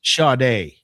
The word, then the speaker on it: Sade: Shade. What? It's pronounced shade.